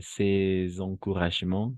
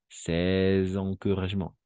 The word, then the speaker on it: ces encouragements: Il ne connaît pas même ces encouragements qui soutiennent dans les durs efforts. Et n'oubliez pas ici de faire la liaison. Ces encouragements. Ces encouragements.